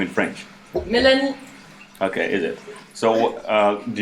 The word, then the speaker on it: Mélanie: The accent of Melanie. the French township Okay. is Milani. Because it's an Arabian culture. Arabic. Oh, Milani. No, it's Mélanie.